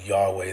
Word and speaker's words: Yahweh: substituted during reading Yahweh, the most accepted scholarly reconstruction of how Yahweh was originally pronounced.